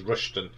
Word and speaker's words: Rushton: Around here we'd say how it's spelt is Rushton. That's a Northampton thing.